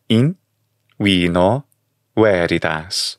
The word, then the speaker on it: In vino veritas: In vino veritas. The V in Latin makes a W sound in the classical pronunciation.